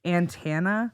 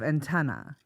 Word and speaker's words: antenna: was in my 20s, I used to say antenna instead of antenna. And antenna. And she's like, it's why? It's a Minnesotan thing. Do you say that? And again, I didn't hear the difference. And until she like really pointed out to me, she's like, it's not the band Santana. It's an antenna.